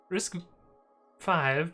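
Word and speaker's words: RISC-V: talking about if i can pronounce it correctly risk five pronounced risk five uh open standard instruction set based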